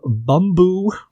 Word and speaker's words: Bumbu: But it's called Bumbu.